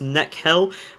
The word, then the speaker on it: Nihil: Nihil is pronounced Nekhil, which I want to point out that is quite silly. KH is a h sound in many Eastern European languages, and you are appropriating culture, Nihil, because I said so.